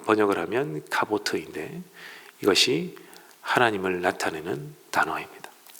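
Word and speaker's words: כבוד: 했습니다 아이 영광이라는 단어는 카보트 아는 카보트 카보드 또는 카보트 이렇게 발음을 하는 헬라어인이 카보트 아는 단어 아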